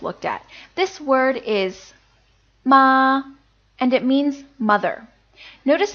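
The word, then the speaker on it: 麻: marijuana or hemp and it's the same syllable as the previous word we just learned except that it takes on the second tone you can see that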